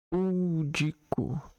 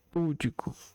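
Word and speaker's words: pudico: As pronúncias avaro, rúbrica e púdico como paroxítonas. Foi o que aconteceu comigo. Porém, como elas não recebem acento gráfico, devem ser pronunciadas como paroxítonas.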